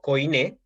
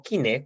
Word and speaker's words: koiné: del griego y entonces voy a explicar por qué yo digo koiné y no kiné, como muchos dicen que debe pronunciarse.